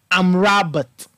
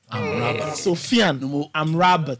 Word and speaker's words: Amrabat: Amrabat. Amrabat. When I talk about languages, okay, touch on it. Sofian. I think only lay. Amrabat.